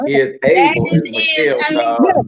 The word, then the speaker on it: Isabel: We've been listening to and learning from Isabel. Is that right? Or is able.